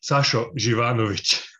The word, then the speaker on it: Sašo Živanović: you raphael i will correct you in the pronunciation of my name i will actually also correct peter so that's okay yeah sasho givanovich it's a it's a tough one i know